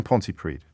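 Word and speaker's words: Pontypridd: thank you david jackson ponte preed jack what would you like to say good afternoon james and great pronunciation there of the uh double d at the end of the that's right the party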